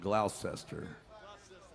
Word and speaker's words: Gloucester: in Massachusetts watching yeah it's not spelled like that really it's spelled like it'd be like Gloucester but I'd say it's just Gloucester 85 years old still